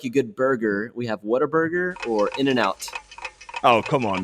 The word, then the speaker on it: Whataburger: Whataburger? Yeah, Whataburger. Yeah. There we go. That's how you say it. What a burger.